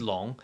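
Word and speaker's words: 龙: speak Chinese and and this is how you pronounce CH the Chinese for Dragon which is which is long and I have to explain something mhm Chinese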